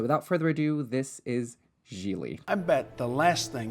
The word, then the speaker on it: Gigli: Jiggly? His name is Jiggly? Jiggly tits? It's Gigli, by the way. Ah, Gigli. What? My name. Meanwhile, you got something for me? Jiggly? Rhymes with really?